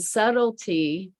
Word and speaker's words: subtle: And subtlety, and it's subtlety, subtle is spelled really strangely. It's S-U-B-T-L-E, subtle.